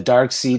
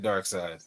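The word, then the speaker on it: Darkseid: Is it dark side or the material made out of It is side. It's side. It is. Okay. dark side cuz everybody says dark seed and I'm like is it seed or is it side dark side you might be listening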